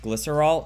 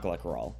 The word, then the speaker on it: glycerol: It's pronounced glycerol, not glycerol.